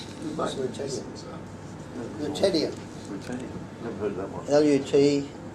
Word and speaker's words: lutetium: The next coin that Peter brought along is lutetium. Lutetium. Lutetium. Lutetium.